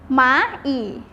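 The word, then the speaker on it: 蚂蚁: นี้ นะ คะ ออก เสียง ว่า หมา อีก หมา อีก อ้าว มา อีก แล้ว ว่า มด นะ คะ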